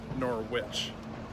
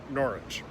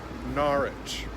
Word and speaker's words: Norwich: Most people that know how to pronounce it Norwich. The locals have an interesting sound. They make it sound more like Norwich, so a longer ah.